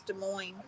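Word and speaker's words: Des Moines: saying how to pronounce De Moine I don't know de MO is not a country Cassie the s's are silent did I call it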